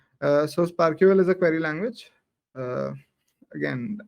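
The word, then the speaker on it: SPARQL: So SparkQL is a query language. Again, there's a protocol on it, and it's pronounced Sparkle.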